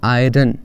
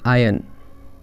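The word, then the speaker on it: iron: हैं आयरन को बट ट इज नॉट आयरन इट इज आयन आयन आयन next इ प्रोनाउंस इट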